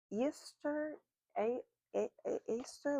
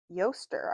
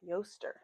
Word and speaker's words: Eostre: And we have growth of uh Easter aster. Let's see how to pronounce her name. Um, Yaster, I was all the way off. Yaster, really beautiful card to come out.